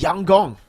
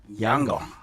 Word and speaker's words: Yangon: By the way, Lfell, apparently YG is pronounced Yang Gong.